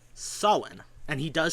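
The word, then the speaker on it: Samhain: he explains to Dan is a festival called Sen. And he does say so. He does pronounce it correctly. Um he doesn't say Sam Hayne like Ghostbusters or Supernatural do. He says Sen.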